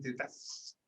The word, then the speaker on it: Tetaz: Bueno, don Martín Tetas, así se pronuncia, ¿no?